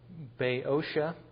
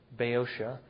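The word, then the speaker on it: Boeotia: can either say that's Bay oia that OE can either PR pronounce as an oi or an A bosia and Macedonia and aolia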